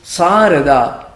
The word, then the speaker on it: Sarada: It is pronounced in two different ways with two different spellings in English. S-H-A-R-A-D-A is Sharada. The other name is Sarada.